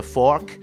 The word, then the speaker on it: fork: นั่นเองนะครับหรือฝรั่งหลายๆคนก็จะเรียกว่า a fork ก็ได้นะครับ F O R K เพราะมันเหมือนซ่อมนะฮะอย่างเช่น get on the expressway and you'll see a fork ต้องออกเสียงดีนะ fork คล้ายๆเหมือนฟอกผ้านะฮะพอบางคนไปบอก get on the expressway and you'll see the frog เห็นกบนะฮะกบไปขึ้นบนทางด่วนได้ยังไงนะครับไม่มี frog มีแต่ fork